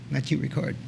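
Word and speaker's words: Matthieu Ricard: that's how you say it matthew that's good matthew record and they were very inspiring and very touching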